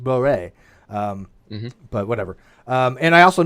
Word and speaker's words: Borel: Like I was watching a video, and it mentioned Borel, which is a mathematician, and I found out a long time ago it was actually French, pronounced Boré.